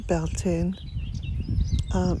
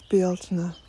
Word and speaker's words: Bealtaine: And no, it's not Bealtaine. Bealtaine is just a cultural appropriation, if you like. The actual word is Bealtaine. That's how it's pronounced in Irish, and it is the month of May in Irish.